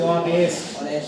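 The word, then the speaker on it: honest: এখানে H silent আছে, আমরা হনেস্ট বলি না, এই যে এখান থেকে শুরু করছি অনেস্ট, অনেস্ট, অনেস্ট, অনেস্ট, সেই কারণে এন হইছে।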